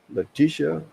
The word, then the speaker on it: Leticia: Leticia. Hey, that sounded pretty good. Leticia.